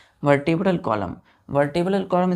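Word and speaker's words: vertebrae: are called क्या बोलेंगे वर्टेब्रा वर्ट ब्रे इसको हम पढ़ते हैं बच्चों प्रसन करते हैं वर्ट ब्रे वर्बे स्पेलिंग देखिए वी ई आर टी ई बी आर एई वर्टे ब्रे क्या बोलेंगे वर्टे ब्रे तो अब बैक बोन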